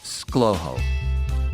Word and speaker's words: ScLoHo: That's the first two letters of my first, middle, and last names mashed together, SC for Scott, LO for Lewis, HO for Howard, which is pronounced ScLoHo. Anyway, as I look forward